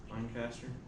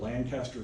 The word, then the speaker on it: Lancaster: Lancaster. That's what it looks like, doesn't it? And I used to live in Lancaster County, Nebraska, okay? They call it Lancaster County.